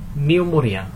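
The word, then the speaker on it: pneumonia: হচ্ছে এটা তো তারপর নিউমোনিয়া এখানে ফার্স্টলি যে পি টা আছে পি এর উচ্চারণটা আমরা করি না বাট পি টা অবশ্যই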